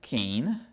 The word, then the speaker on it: cane: gente tem a Standard cane Standard lembrem aí pronunciado como a palavra Pain Pain E aí tem o